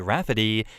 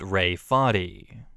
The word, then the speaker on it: Rafferty: Apparently my sister insists everyone will understand it as Rafferty and not Ray Farty. No, they won't. Literally everyone will look at the name and pronounce it as Ray Farty.